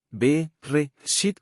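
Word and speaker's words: בְּרֵאשִׁית: B, re, shit, con acento en la última sílaba.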